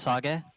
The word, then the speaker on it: Sage: It's pronounced sag. What? It's not sage. It's sag. Oh, I was like, did